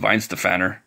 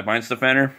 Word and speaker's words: Weihenstephaner: I think it's pronounced Weihenstephaner, and the beer is called Vitus.